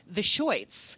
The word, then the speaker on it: The Shirts: Plus, before all that, she was lead singer of The Shirts, or as I've heard rumor, they insisted on pronouncing it, The Shoits, one of the core bands of CBGBs in the formative era of punk music.